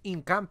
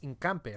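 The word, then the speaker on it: Hincapié: comment section it's it's incampe isn't it obviously you don't say the age because it's silent in spanish so it's incampe right he made a run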